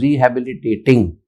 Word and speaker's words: rehabilitating: Rehabilitation is wrong. So you use twice rehabilitation and rehabilitating. So it is rehabilitating.